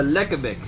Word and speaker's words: lekkerbek: It is the lekkerbek.